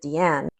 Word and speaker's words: Diane: I like Diane Arbus. We were just talking about I love her. I think she actually pronounced it Deanne.